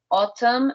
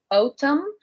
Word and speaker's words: autumn: should be an O, autumn, and this happens also, for example, with the country Australia. Okay, we write it AU, okay, but we pronounce as O, autumn, and then that MN at the end.